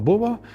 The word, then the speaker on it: buvo: They still pronounce kitas “other” or buvo “was” as kėts and bova.